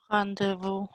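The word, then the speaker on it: rendez-vous: That's pronounced. Rendezvous.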